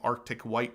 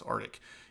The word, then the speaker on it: Arctic: Rob says, Justin, thank you for pronouncing Arctic White correctly. So many people think it's Arctic.